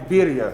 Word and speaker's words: birria: By the way, I already crushed that pronunciation when I was outside. B-I-R-R-I, birria.